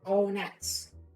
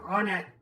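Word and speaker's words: Onett: I'm seeing a lot of people pronounce it O-nets. Interesting. I've never pronounced it O-net. I guess you did that too. O-net's closer to on-net than one-net, I guess.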